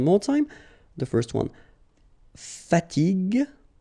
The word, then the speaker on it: fatigue: So as we said here, you should pronounce it G, G. Okay? So you get the word fatigue, fatigue.